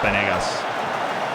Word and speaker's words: Vanegas: It's Vanegas. V is essentially a B.